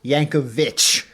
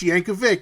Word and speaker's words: Yankovic: very adamant that it was pronounced Yankovich and I said I don't care how you pronounce it this guy's actual name is pronounced yanov Vic and I I did